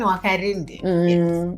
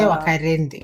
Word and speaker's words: Wakarindi: Pronunciation Wakarindi. It's the same way you can say Wambui. Yes. It's just say Wambui. Wambui. So you say Wakarindi.